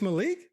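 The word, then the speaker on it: Maalik: It's not Malik. Malik Murphy. It's Malik. That's spelled.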